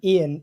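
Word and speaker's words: Iain: using this pseudonym was my real first name ian is spelled i a i n and i thought doctor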